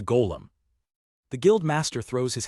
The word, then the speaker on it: golem: Gllum, he asks, mispronouncing the word. It's a golem.